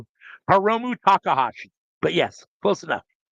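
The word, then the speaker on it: Hiromu Takahashi: Hermono Tahashi is in the building. Close enough. Heromu Takahashi.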